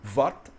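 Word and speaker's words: Vata: Você vai ver muitas pessoas na Índia pronunciando, por exemplo, o nome dos doshas como Vat, Pit, Kapha. Eles tiram o negócio da última vogal.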